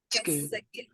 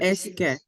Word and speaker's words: est-ce que: How do you pronounce that again? Est-ce que. Est-ce que. Est-ce que. Oh, yes. Est-ce que. Oui, comme ça.